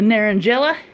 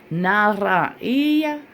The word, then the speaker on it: Naranjilla: I just finished it, and this is the Naranjilla, or the correct pronunciation, I guess, would be Naranjilla.